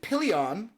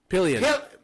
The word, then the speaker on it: Pillion: So, we're going to go with Pion, I believe. Is that pronouncing that right? Pillion.